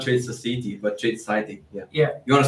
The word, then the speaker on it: Tradeciety: Tradeciety, not Tradeciety, but Tradeciety. Yeah. You want to spell that out for people? Because it's a trade and then Ciety.